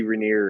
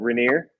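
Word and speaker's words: Rainier: you couldn't even see reneer or anything hey Nice pronunciation of it like that's a very local pronunciation of it I dig it what reneer yeah all right so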